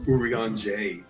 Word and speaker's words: Urianger: It's like Tarjay. It ends in like a ah No.